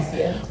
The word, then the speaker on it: Marlesia: Marlesia.